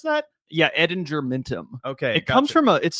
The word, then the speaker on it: Ettingermentum: How you pronounce that? Yeah, Edinger Mintum.